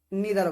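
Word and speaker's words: neither: ইউ so much আচ্ছা এটার উচ্চারণটা আপনার নেদারও করতে পারেন নিদার করতে পারেন তবে আমি যখন ছিলাম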